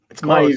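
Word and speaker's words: Mailloux: right oh whoops mau mau right yeah you just don't pronounce the L you're close that good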